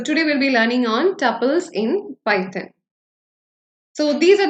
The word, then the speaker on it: tuple: is tles in Python you can either pronounce it as tle or Tuple whatever it is uh I'm not uh going much into the pronunciation but I'll be following the pronunciation tle throughout my session so welcome to